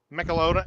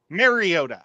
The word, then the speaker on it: Mariota: Michelota. I can't say his name. Stupid Tennessee quarterback for years. He played for the Oregon. You just said him. Mariota.